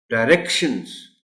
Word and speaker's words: directions: डायरेक्शंस, डायरेक्शंस, आर पर stress, important.